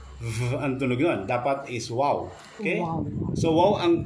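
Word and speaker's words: וו: Ito ay wow. Wow. Okay. Kailang binibigkis ito ng isa, vav. Vav. Vav. Pero ito ay binabanggit natin ng wow.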